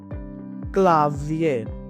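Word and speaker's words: Klavier: क्लावियर, क्लावियर, English में क्लावियर, German में क्लाविया। आर आखिरी में नहीं बोलेंगे।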